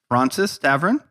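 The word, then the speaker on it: Fraunces Tavern: and what's it called francis tavern that's right francis tavern and it's spelled it's not spelled like francis i feel like people are gone it's f-r-a-u-n-c-e-s tavern right and it is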